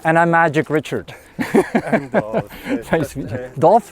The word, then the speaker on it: Dolph: And Dolph. Nice to meet you. Dolph? Spelled like golf with a D.